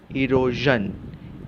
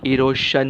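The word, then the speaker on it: erosion: side में रखते हैं ई आरओ इज अ वीसीवी इसलिए ए और आर के बीच में टूटा दिस बिकम ई रो जन इरोजन इरोजन रोशन नहीं इरोजन और एक शब्द देखते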